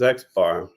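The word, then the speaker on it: x̄: And the bar above x you pronounce as xbar.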